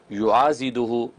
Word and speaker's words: یعاضدہ: سوء فلا شیء یعاضدہ، یہ ضاد ہے، ضاد فلا شیء یعاضدہ من جمیع خلقہ بلطفہ یا